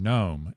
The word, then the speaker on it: gnome: see that it has it's spelled G and then the word gnome and phonetically it's saying gnome. And that G is also uh silent as well.